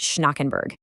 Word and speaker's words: Schnackenberg: That's pronounced Schnackenberg.